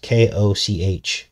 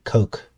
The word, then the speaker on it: Koch: strange going on there yes coke k-o-c-h a lot of people were making fun of me because i was calling him koch at first i didn't know how to pronounce his name but it's actually coke and there were deals